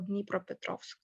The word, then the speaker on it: Dnipropetrovsk: So I'm pronouncing that. Yeah, so Dnipro or Dnipropetrovsk.